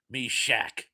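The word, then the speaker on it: Meshach: Uh, and Cindy says, "That's how you say it, Mish Shok."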